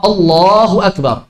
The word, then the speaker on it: Allahu akbar: ada orang Takbir Takbir Allahu akbar boleh allahuakbar silakan Allohuakbar dipersilakan juga tidak masalah karena tidak merusak makna tapi kalau bacanya Allohuakbar merusak banget Hai merusak jadi yang penting jangan mengubah makna Kenapa rusak makna karena